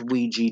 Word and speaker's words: Ouija: played with an older board I know it's pronounced Ouija don't need to correct me comments I just